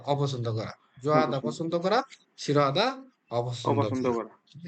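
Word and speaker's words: 싫어하다: জি স্যার হিউতের নিয়মে আমরা বলি তাহলে হচ্ছে শিরো হাদা শিরো হাদা মানে অপছন্দ করা মনে রাখবেন এইটা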